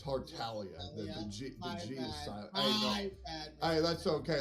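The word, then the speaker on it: Tartaglia: Talia hey that's okay like 90 of the gangster Community mispronounces his name including the original English voice actor for tartalia because they don't know that the name's origin is of Italian descent or the g is silent but that's all right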